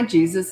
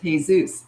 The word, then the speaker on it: Jesus: coaching and I called I said, "Oh, hi Jesus. It's nice to meet you." And he goes, "Actually, it's pronounced Jesus.